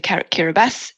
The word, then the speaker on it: Kiribati: And as you've probably noticed, the local pronunciation of TI becomes an S. So that's the background between the Kiribati and the Besso.